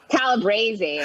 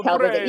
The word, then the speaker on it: Calabrese: So, Are you saying her last name right? Calabrese, right? Is that how you say it? I don't know. It's Calabrese. I'm pretty sure it's Calabrese.